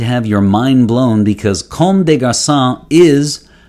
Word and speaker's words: Comme des Garçons: in french and so comb like comb your hair comb day day of the